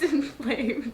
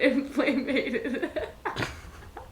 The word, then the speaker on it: inflamed: time it's pronounced inflamed it's not inflammated inflamated no disbelieved inflamated